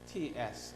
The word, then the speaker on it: GATS: It pronounced similar to a GATT, but however you can see, a GATS, a General Agreement on Trade of Services.